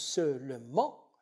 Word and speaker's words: seulement: Si on prononce seulement, il n'y a pas syncope. Si l'on applique la règle de la syncope, le découpage donnera deux syllabes.